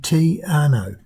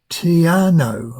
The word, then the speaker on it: Te Anau: I've got to be careful how I say that, it's very hard to pronounce. Te Anau, I think is the correct way, to Milford Sound, which is nothing short of dramatic.